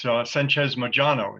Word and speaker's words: Sanchez Mojano: And it is Sanchez Mojano. Is that the correct pronunciation? Yes, like a zh.